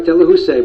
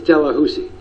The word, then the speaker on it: Delahoussaye: I know it looks like Delahousie, but he told us himself it's Delahousie.